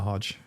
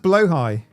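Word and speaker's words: Blåhaj: It's pronounced blowhigh.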